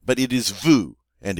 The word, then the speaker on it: vous: All right, but it is vous, and it rhymes with nous.